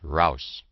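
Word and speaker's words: Raus: Rouse is the word they use, pronounced rouse.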